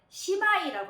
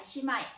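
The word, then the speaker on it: 姉妹: 그래서 자매는 시마이라고 합니다. 시마이.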